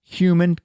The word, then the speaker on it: HVMN: Coline well enter hvmn it's actually pronounced human Ketone yeah human Ketone